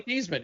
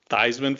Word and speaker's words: Theismann: And they literally changed the pronunciations cuz Theismann for the Heisman.